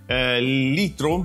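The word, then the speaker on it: Lytro: Cioè mi viene in mente per esempio la fotocamera Litro, si pronuncia così, fotocamera che doveva essere rivoluzionaria perché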